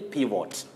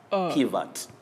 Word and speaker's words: pivot: Now, when we look at this word, Betty, we find ourselves just saying pivot. That is from what we see. But this O takes the weak sound and the weak mid-central sound pivot.